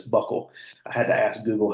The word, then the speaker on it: buccal: U CC a l it looks like some weird foreign name but it's Buckle I had to ask